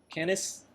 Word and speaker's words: Canis: how to pronounce it canis yeah yeah like like K9 but also it's the